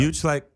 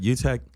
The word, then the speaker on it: Utrecht: Utrecht. I think I'm saying it right. Utrecht, Rotterdam.